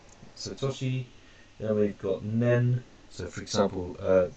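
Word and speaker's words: 年: Person barrier, so we different pronunciations. We've got toshi, so toshi, then we've got nen, so for example, 3 years is sanen, and so on.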